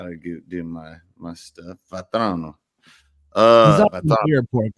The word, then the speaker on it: Vatrano: I said it right. I said Vatrano. Yeah, you got it. Yeah, throw a little Italian spin.